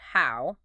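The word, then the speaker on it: 好: And he contrasts that disorienting image with the character for good, pronounced hao.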